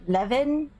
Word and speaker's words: Lewin: let me read what lewin lewin levin is that is that a w that's pronounced like v eldon i have merged